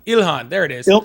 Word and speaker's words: Ilhan: Ilhan. Ilhan. There it is. Ilar. Oh, Ilhan.